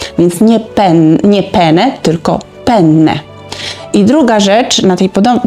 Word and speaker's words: penne: czym mówię o makaronie o piórkach penne tam jest dwa n w środku penne musimy wydłużyć to n ponieważ jak